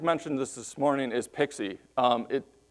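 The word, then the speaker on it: PKCE: this this morning is pixie it someone came up with the pronunciation pixie so I wanted to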